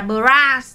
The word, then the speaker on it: Bros: Không phải đọc là Bros đâu, mà là Bras.